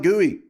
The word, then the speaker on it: GUI: That's why I call it GUI. It wasn't like I made it up. It was how that's how I heard it. That is how it's said.